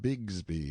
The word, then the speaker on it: Bixby: you Horace bigsby's cub e being usually pronounced Bigsby in River parlance Sam answered politely enough